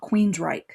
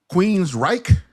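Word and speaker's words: Queensrÿche: It's a band called Queensryche. Queensryche.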